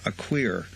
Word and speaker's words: Akweer: Nana Akweer joins us. And by the way, Raheem was correct. I had mispronounced your name to Raheem. He goes, no, it's actually Akweer.